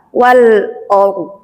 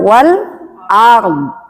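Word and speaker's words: والأرض: Wal or wal or o kebacanya bukan wal ard.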